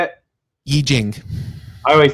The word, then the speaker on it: I Ching: I Ching. I always said I Ching. Yeah, I know. It's because of the Wade Giles system of transliteration, which we don't use